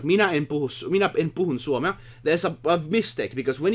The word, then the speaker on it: suomea: is a difference, because if you say puhun, it's wrong. If you, minä en puhu Samantha Stockings. suomea, Finnish it day basically woohoo. is suomea. Then you are saying it right.